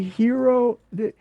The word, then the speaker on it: Hiro: You pile into the van, and you drive over to the Hero. It's actually a famous building, Hero Building. It's spelled Hiro though, and it has it has a lot of brass inside.